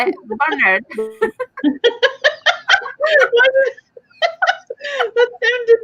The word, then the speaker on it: Barnard: How do you say it again? Barnard. Barnard. I would say Barnard. No, not Bernard. Bernard. I mean, Bernard is posh. Bernard. That sounds a bit American.